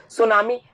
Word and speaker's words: tsunami: का ये शब्द है, सुनामी, TSUNAMI। ध्यान रखना टी साइलेंट होता है, सुनामी लिखने का तरीका यही होता है।